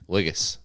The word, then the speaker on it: Ligas: Ligus. Ligus. L I G A S. Okay. Nobody ever pronounced it the first first round ever.